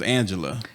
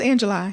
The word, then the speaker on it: Angelia: think your name was Angela uh-huh is your name Angela no it's Angeli is ang but it looks like Angelia cuz it's spelled a